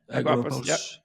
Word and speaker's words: Agorapulse: So you moved across to how do I pronounce that? Agorapulse. Agorapulse.